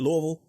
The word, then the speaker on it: Louisville: talking to David Lynch with Simon realy in Louisville Kentucky am I pronouncing it right David Louisville that is correct you got it I could